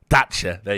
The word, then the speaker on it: Dacha: Is it Dacha? Dacha. There you go. Thank you. Right. It's a soft C.